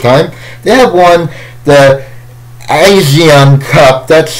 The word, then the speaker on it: ASEAN: it's the first time they have one the asean cup that's how that's how it's pronounced they want it like free four years